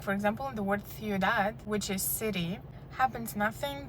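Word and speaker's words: ciudad: example in the word thead which is City happens nothing they create a Dongo you pronounce them both shortly it's not thead it's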